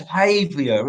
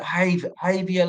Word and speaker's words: Javier: It's Havia, isn't it? Like say the J is silent, like Django. Is it Javier Lopez?